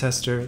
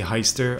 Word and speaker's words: Heister: williams ga pope davis hester the german dude it's actually heister i can't believe i've